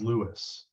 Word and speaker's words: Louis: Now, one landmark that's important is this angle of Lewis, or angle of Louis is the way people usually pronounce it.